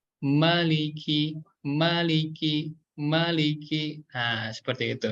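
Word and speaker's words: مَلِكِ: Nah, jangan sampai ketika kita membaca surat An-Nas, mimnya dibaca panjang 2 harokat juga nih. Malikin nas. Nah, itu hati-hati ya, itu kurang tepat karena huruf mim di sini dibaca 1 harokat saja ya.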